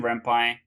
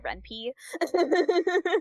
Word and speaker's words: Ren'Py: So, you know I'm not a game dev because in my head I always pronounce Ren'Py Ren'Py. It's cuz it's short for Python. So, it's yeah. Ren'Py.